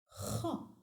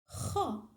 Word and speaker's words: خ: The seventh letter is pronounced Kha and is written from right to left on the line with a going down semicircle shape. Kha has one dot above.